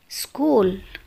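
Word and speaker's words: school: وحرف الإتش إذا جاء قبله حرف سي وبعده حرف متحرك لا ينطق، مثل سكول سكول، سكولر سكولر.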